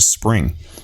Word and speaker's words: XSpring: invested $500 million into Spring, or XSpring. I pronounce it Spring. That's how they want you to pronounce it.